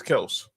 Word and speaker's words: Kelce: old boy that just told everybody how to pronounce his name, huh? Yeah. Like how everyone kept saying people still say Travis Kelce, but he says it's Kelse.